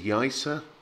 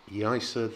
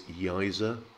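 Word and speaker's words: Yaiza: emphasize the point that the zed becomes that kind of soft s sound i'm not a hundred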